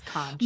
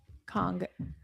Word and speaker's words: conch: Kong. They're phonetically going KAANGK. Kong. Like, okay, but I guess we could also spell it CONK and just like have the shell be there.